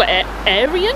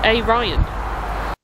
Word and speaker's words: Arian: Certain connotations about the word Arian, so I'm going to go ahead and say that's pronounced A-Ryan. Future Sarah here. I've looked this up online, and this is actually a name pronounced Arian, which is popular in India and Iran, and comes from a Sanskrit word meaning noble and educated. We've got a ticket machine,